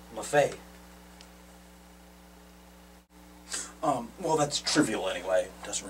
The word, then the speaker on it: Maffei: So Maffei is that correct? Is that? Well, actually, I pronounce it Maffei.